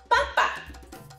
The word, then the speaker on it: papa: It looks like papá, except that it doesn't have an accent. It's called papa.